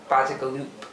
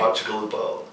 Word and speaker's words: Bacigalupo: This is is what we call him, but Bacigalupo. Did I say it right? Yeah, okay. Bacigalupo. Bacigalupo.